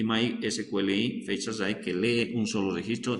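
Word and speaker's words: fetch_assoc: Y el más importante, tenemos el MySQLi, aunque es una palabra medio difícil de pronunciar, pero se pronuncia fetch asai.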